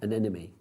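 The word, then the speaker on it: anemone: An enemy. Yeah. An an enemy. I always think but what's the opposite of a friend? An enemy. That's how I think about my breaks it down in my head for me.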